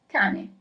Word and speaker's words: cane: So the first word is cane. Is there a double letter or not? Cane. I'm always gonna repeat it twice. And no, there isn't a double letter, so you write it as, in Italian, C-A-N-E, and that means dog.